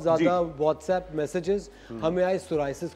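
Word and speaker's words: psoriasis: पी से शुरू होता है, इसकी स्पेलिंग है PSORIAS, सोराइसिस।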